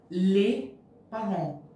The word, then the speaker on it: les parents: they are pronounced, and S is not pronounced. So the pronunciation is les parents.